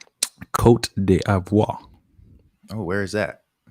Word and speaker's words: Côte d'Ivoire: So I'm gonna go with Nigeria, and I'm also going with Côte d'Ivoire, or the Ivory Coast. Good sir. Yeah. How do you pronounce the second one you said? Côte d'Ivoire.